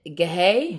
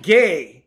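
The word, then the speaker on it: γῆ: Is it gehe? Gay. It's the H is silent. It's it's gay.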